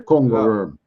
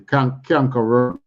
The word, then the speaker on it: cankerworm: Anyway, it's the same thing we call here the Congo worm. So Congo worm is not the right word, you know. It's a canker worm.